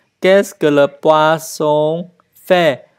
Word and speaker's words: poisson: Qu'est-ce que le poisson fait? Đọc nhớ, âm thanh đọc là S nha các bạn.